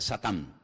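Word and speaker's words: שָׂטָן: En hebreo no se dice Satanás, se dice Satán, que significa adversario.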